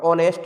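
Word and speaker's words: honest: Friends, ये एच बना है, ये साइलेंट है आवर में, और ऑनेस्ट में एच साइलेंट है, एयर में एच साइलेंट है, तो ये वोवेल साउंड कहा जाएगा।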